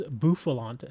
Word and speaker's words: Bouffalant: an evolution I'm sorry not buffal is bouffalant I think is how it pronounces the name let me see wow